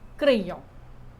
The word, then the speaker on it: crayons: Don't pronounce the S, des crayons.